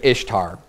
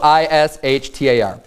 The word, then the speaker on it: Ishtar: pronunciation of Ishtar, and it's the reason I'm saying Ishtar is because it's spelled I-S-H-T-A-R. So in our common way that we would pronounce English words, it would say Ishtar. But they say, well, the real Semitic pronunciation of that is Easter.